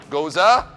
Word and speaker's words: gose: don't mean Cobra chicken I mean Goose so goza news regardless of which way it's spelled so we have on this side we